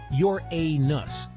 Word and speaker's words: Uranus: It's pronounced Your-A-Nus, but let's be honest, nobody says it that way.